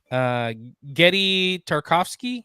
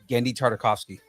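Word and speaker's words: Genndy Tartakovsky: Getty Tarkovsky. How do you say that? Gendy Tartakovsky.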